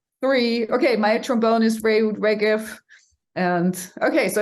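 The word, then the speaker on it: Reut Regev: Okay, my trombone is Reud Regev.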